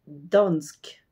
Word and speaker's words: Dansk: de la langue danoise c'est Dansk d a n s K c'est comme la prononciation de dance auquel on colle un cas à la place du e dan Dan et pour